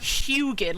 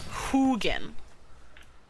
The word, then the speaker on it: Hugin: his name because the way I had been pronouncing it was hugin like Huey or Houston and he's like no it's Hogan like like who who are you who again